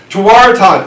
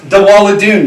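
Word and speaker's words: tewaarathon: voice didn't like it Taran actually is better pronounced dadon Mohawk doesn't have a t but tell the Jesuits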